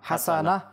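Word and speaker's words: حَسَنَةً: রব্বানা আতিনা ফিদ্দুনিয়া হাসানা থামলে এখানে তাকে হা পড়াবে হাসানা আর যদি মিলে পড়তে চাই তাহলে হাসানাতা হাসানাতি হাসানা এখানের মধ্যে ভুল হয় কফকে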